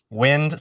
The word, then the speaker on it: Nguyen: Wind sounds my last name Nguyen, Nguyen. A lot of folks don't know how to pronounce that because it's not a standard last name necessarily. But Wind, so people don't mispronounce my last name.